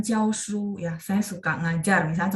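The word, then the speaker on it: 教书: 教， jadi memang dia ada 2 cara baca di huruf ini dengan huruf Mandarin yang sama gitu ya. Dengan huruf yang sama, dia ada dua cara baca, artinya 2 nada ya. Kalau dia berfungsi sebagai kata kerja, maka nada 1, 教书.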